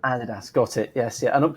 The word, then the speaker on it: adidas: known which go on it tends to depend on which side the atlantic you are and that's my experience anyway but it's adidas that's that's how i've always that's how i've always pronounced it adidas got it yes yeah